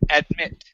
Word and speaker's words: admit: And the last one for you is the word admit. Okay. Instead of admit, the stress is at the end.